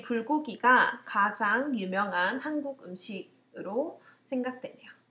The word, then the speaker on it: 불고기: But in Korean, we pronounce 불고기. 불고기. I think this is the most famous Korean food. 제 생각에는 이 불고기가 가장 유명한 한국 음식으로 생각되네요.